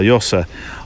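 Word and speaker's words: Yosser: You pronounce it as Yozza, don't you? Well, it's spelled Y-O-S-S-E-R, Yossa.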